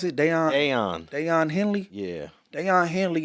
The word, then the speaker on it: Daiyan: Daiyan, what's it, how you pronounce it? Daiyan.